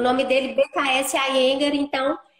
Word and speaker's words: Iyengar: A Soninha foi minha professora de yoga, da técnica Iyengar, né, Soninha? Pronuncia Uhum. assim? A Pronuncia. Iyengar.